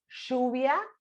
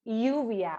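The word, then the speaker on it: lluvia: also the pronunciation like the rain in argentina is shubia like shubia like that and in other parts of latin america is uvia or jupiter yeah yeah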